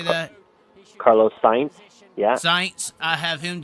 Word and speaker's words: Sainz: Carlos Sainz.